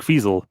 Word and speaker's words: Fizel: they have Greg fizel Greg fizel who rhymes with weasel he's just the club